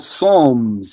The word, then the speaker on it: Psalms: Zabur is yani, their perverted version of that is called Psalms with a silent P.